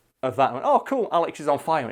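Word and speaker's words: Alexisonfire: think it's similar with Alexis on fire you know I like Alexa on fire because they have to call out Alexis on fire and a lot like people mispronounce it Alex is on fire like I remember going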